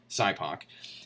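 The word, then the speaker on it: SIPOC: oh cyp cypo okay SI pronounced cypo is an acronym that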